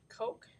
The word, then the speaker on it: Koch: um we're going to make what's called a Koch snowflake I know it's spelled k och something right at the top